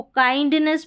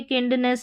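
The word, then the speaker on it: kindness: इसको काइंडनेस पढ़ेंगे। किंडनेस नहीं पढ़ेंगे।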